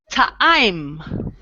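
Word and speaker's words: טעים: Ta'im. So you always try to pronounce the letter like when you have an I in it.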